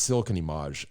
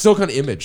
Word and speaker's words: Silicon Image: I um I think it's silicon image. It's silicon image. So why am I giving it like why am I making it fancier with emage?